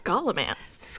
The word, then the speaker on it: Scholomance: Scholomance. Is that how you pronounce that? It's Scholomance. Scholomance.